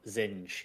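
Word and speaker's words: Zsinj: Zinja. Yeah, because of the way it's spelled, people say it so many different ways. But I think Aaron Alston said Zinj, so that's what I'm going to say from now on, because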